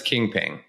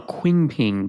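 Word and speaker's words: Qingping: i can't pronounce uh i'm gonna pronounce it as kingping but it's q-i-n-g-p-i-n-g i would've gone quing-ping but okay have a lot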